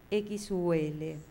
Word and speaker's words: Xul: explicaba: por si acaso, la ortografía de mi nombre definitiva es Xul, X-U-L, pronunciado como en alemán Xul, a la española vieja y brasilera, ya que en castellano actual no hay tal sonido de sh, y añadiendo Solari para aquí.